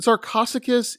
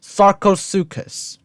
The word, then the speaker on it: Sarcosuchus: that come its way even a T-Rex the sarcosicus is Americano pronunciation alert sarcasticus sarcosuchus another gigantic ancestor of the crocodile unfortunately what